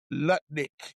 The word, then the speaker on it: Lutnick: Did you Did you call him Nutlick or Lutlick? Lutnik.